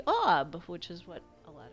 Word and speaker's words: Aub: Which conveniently, AWWB would be a pronunciation of the shortest version of my gamer name, which would be Aub, which is what a lot of people call me.